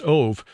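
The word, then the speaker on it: אוֹב: of the Hebrew word of O B but pronounced ove which is usually translated into English as Medium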